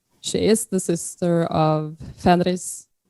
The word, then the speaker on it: Fenrir: is the sister of Fenris, the Fenris wolf, and some people say Fenrir, and then she's the sister of Midgard's worm.